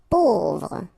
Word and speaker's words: pauvre: Pauvre. A, U together will produce this O sound. Pauvre.